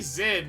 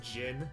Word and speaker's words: Jin: Hey Zin, are you growing a soul patch or something? What's going on there? Good anti-aliasing. Awesome. Knowing Elvis, his story was about how stupid Van is. It's pronounced Jin.